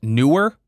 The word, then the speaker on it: Neewer: So, according to Neewer support team, it is pronounced newer, but screw that.